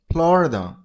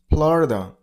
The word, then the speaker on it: Florida: Stress on the first syllable. Florida, Florida.